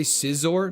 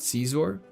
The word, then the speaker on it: Scizor: I say Scizor, not Caesar. Fair. I mean, it's probably supposed to be pronounced like Scizor, but for me it seems more exciting as Caesar.